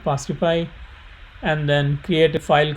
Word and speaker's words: fastify: This is spelled as FAST, fast, and IFY, fastify, and then create a